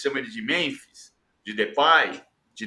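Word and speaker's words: Depay: ele de Memphis de depai de depi a gente já disse que na Holanda a pronúncia oficial a pronúncia na Holanda é de pai e que o Memphis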